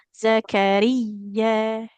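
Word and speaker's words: زكريا: Nah, huruf ya-nya lebih ditekan. Zakariya, Zakariya.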